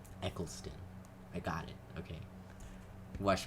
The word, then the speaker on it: Eccleston: because I always forget I always want to say Echo like like a sequelson and it's it's just not it's Eccleston and I will say it